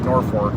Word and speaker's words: Norfolk: uh Nebraska they've got Norfolk except they just like Norfolk Virginia except here they call it Norfork it's like no that